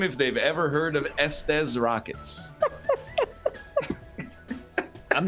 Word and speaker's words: Estes: Maybe it's supposed to be like testes, like Estes rockets. Oh, it's like SD's rockets. Estes rocket. SD. Like I don't these pronounce it that way. rockets. It's Estes. Yeah.